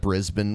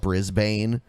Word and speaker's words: Brisbane: Like instead of Brisbane, we call it Brisbane, and it's like okay, so the word Bane, BANE. Do you say bin when that's spelled that Is that way? Batman's nemesis?